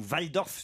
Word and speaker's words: Walldorf: sculpture signée de l'allemand marcel walldorf ou vaille dorff si je doit prononcer à l'allemande qui a 27 ans